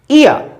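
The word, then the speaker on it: ear: Next आती है ई ए sound, ईयर, ईयर। पहले ई फिर ए। दो एग्जाम्पल हमने लिए हैं, ईयर, real. E ए आर, ईयर, रे आ रहा है, साइलेंट रहेगा यहां पर ये, ई ए, ई ए, ईयर, ईयर।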